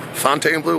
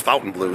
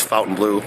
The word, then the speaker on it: Fontainebleau: front of the F Fountain Blue Fontaine Blue whatever you want to say I think it's actually pronounced Fountain Blue so if you're saying it differently it's Fountain Blue I did a little